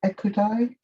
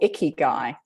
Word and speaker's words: ikigai: You mentioned the term, I think it was a Japanese term, was it ikigai? Oh, ikigai. Yes. Ikigai, sorry. Okay, how do you spell it? It's I-K-I-G-A-I, ikigai.